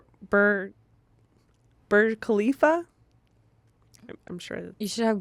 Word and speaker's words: Burj Khalifa: visiting the I'm gonna pronounce this wrong bird Burj Khalifa I'm sure you should have Google tell you let's have Google tell me Burj Khalifa Khalifa you are super clear I was super close yeah Burj Khalifa she continues my sister and I decided to